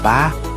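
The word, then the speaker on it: 八: para sa walo na binibigkas bilang ba ay parang salita para sa kasaganahan na binibigkas bilang fa maging ang pagbubukas ng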